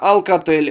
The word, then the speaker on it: Alcatel: Произносится Alcatel, ранее французская компания, один из лидеров мирового рынка телекоммуникационного оборудования.